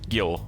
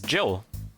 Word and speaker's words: Gil: I think this confirms that the pronunciation for their names is the same, right? Like that's what happened, right? So he's not Gil, he is Jill, also.